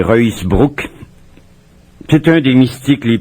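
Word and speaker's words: Ruusbroec: décembre, Jan van Ruysbroek, ou on peut prononcer son nom à la française, Ruysbroek. Paraît-il qu'en flamand c'est Ruysbroek.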